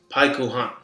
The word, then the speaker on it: Pycon: Pycon in Japanese is pronounced paikuhan, which means pork rib rice.